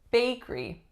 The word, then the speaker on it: bakery: her birthday next up we have bakery bakery now this one looks like it should be bakery bakery but the middle syllable goes away and we get bakery bakery do you know of